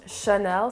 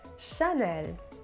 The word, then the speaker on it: Chanel: video like i said most people pronounce it chanel so they have like a heavy like sound but the a sound in the french language is more it's supposed to be more light and airy so it should be pronounced more like chanel so it's more of a sound chanel next one on my